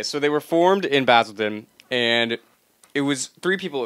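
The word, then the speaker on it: Basildon: they're from jumped in basilon basilon basil basil I'm saying basil because I'm American I'm sorry but it is basilon that's the way they pronounce it oh well whatever we're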